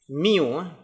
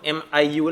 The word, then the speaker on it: mu: bagi tahu macam ni nak sebut mu. Dalam bahasa Inggeris dia ejaan dia mu lah, mu. So sebut dia mu. Mu Dalam bahasa Melayu kita sebut MIU lah, mu Tapi dalam bahasa Inggeris dia MU lah. Bukan Manchester United mu.